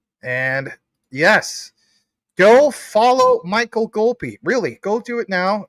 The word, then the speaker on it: Golpe: Michael Golpe. Let's pull that up. And what do we have from Mr. Golpe?